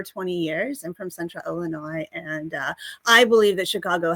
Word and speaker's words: Illinois: Hear the way she pronounced Illinois. There is no noise in Illinois. Correct. There is no noise. There is no S.